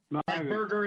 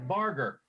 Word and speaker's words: Barger: Burger is it's Barger.